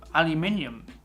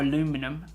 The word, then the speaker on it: aluminium: adds up to like kilos and kilos of aluminium and yes i know you can recycle aluminium but or aluminum as the americans say um no offense if